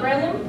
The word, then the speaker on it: Breloom: And then, Breloom, that's how you say it.